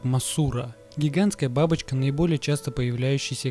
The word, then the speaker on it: Мотра: группу будет в описании мотра в оригинале произносится как масура гигантская бабочка наиболее часто